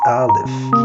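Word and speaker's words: ا: This is alif. Repeat after me. Alif, like in arm.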